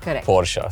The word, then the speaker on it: Porsche: have different versions but there was this one video I saw on YouTube that actually showed you how to pronounce the name pora so yeah for me